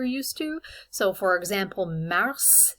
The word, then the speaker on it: mars: to so for example mars the s is pronounced at the end mei sounds exactly like